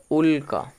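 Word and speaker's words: উল্কা: তাহলে হসু লয়ে কয় আকার এর উচ্চারণটা হল উলকা এর উচ্চারণটা আসছে উলকা কেন কারণ হস এর সাথে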